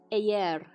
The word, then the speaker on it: eğer: We said you spell the yumuşak as Y when you have it between 2 vowels. This one becomes eğer. Eğer. Meğer. We have 2 vowels, we spell it as Y.